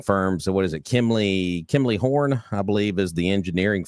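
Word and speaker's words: Kimley-Horn: that's helping with this so there you go Kimberly horn yeah it's it's actually I'm gonna spell it for it's a kimley horn it's k i m l e y horn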